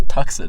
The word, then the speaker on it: Tucson: No, yeah, she calls it the Tucson. I'm like, that's not how you say it. It's Tucson.